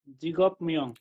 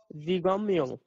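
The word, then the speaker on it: 직업명: জিগম মিয়ং। জিগম মিয়ং। মিয়ং। আচ্ছা, এখানে তো আমরা অনেকেই পড়ি কি জিগপ মিয়ং, জিগপ মিয়ং, তাই না?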